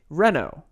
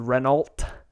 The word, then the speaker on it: Renault: Honda Civic type-r it's now been beaten by a Renault no it's not it's been beaten by Renault if you live in America and you've never heard of this it's a Renault it's how it's spelled but it's a French car the Civic was beaten